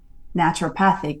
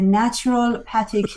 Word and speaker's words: naturopathic: the day he died he still couldn't even pronounce it he used to say my my doct is a natural patic doctor and I'd be like Dad please just say it right and I would spell